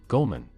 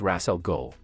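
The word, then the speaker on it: Ra's al Ghul: What about you, Goldman? You look like you have some free time. It's Ras Al Ghul.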